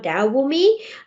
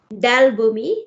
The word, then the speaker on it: Dell Boomi: So we're actually using an integration platform called Dell Boomi. It's actually a product on its own. So what is integration platform? How do you pronounce that? Sorry, how do you spell that? Dell Boomi, DELLBOOMI.